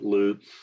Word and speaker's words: Lutz: I pronounce it Lutz. Lutz. I'm not sure why, but that's kind of been my family's MO.